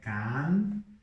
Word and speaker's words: canción: Por exemplo, can, lembra que não é can, é canción, ok? Canción. O espanhol ele é mais agudo, mais estridente, mais nasal, então canción, ok?